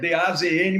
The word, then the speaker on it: DAZN: Eu me lembro do Dudu, DAZN, é DAZN, se escreve D-A-Z-N, mas é DAZN.